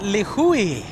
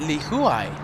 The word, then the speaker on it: Lihue: few moments Kai and Lihue Li Hui okay that's I I usually pronounce Lihue Lihue now I will be pronouncing it Lee Hui thank you guy for